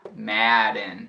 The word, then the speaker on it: Madden: Não é um E por causa da dupla consoante, é Madden.